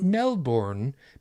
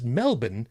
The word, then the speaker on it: Melbourne: time ago about that it's not melbourne because that's the way that it's spelled it's melbourne because that's the way that we say it they say it was